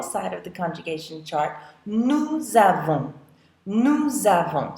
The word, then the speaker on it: nous avons: So notice that usually in French, you don't pronounce an S when it's on the end of the word, but when it's followed by a vowel, like it is in this case, we will pronounce it. So, nous avons.